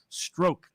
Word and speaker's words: Strzok: And let's say that's apparently I'm told that the pronunciation is stroke. It's spelled like Strozik, but I got multiple comments on this. Also, now, can we remember? Can we be reminded of Peter Strzok's connection to Patrick Byrne?